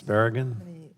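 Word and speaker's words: Barragán: Olsen and my friend from Texas for first of all pronouncing the name right. That was pretty darn good. It's as close as I say. Baragan.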